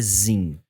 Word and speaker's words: Sim: se escreve Sim, mas se lê Zin.